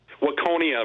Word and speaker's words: Waconia: Rob in Waconia, Minnesota. Am I saying it right, Rob? Waconia, Minnesota, yeah. Waconia, okay.